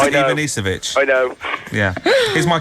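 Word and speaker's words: Ivanišević: And also, you've just mispronounced it as well. It's I know. Ivanisevic.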